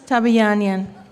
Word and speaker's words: Tabayanian: Don't fall so far on the last syllable, girlfriend. Shahnaz Tabayanian.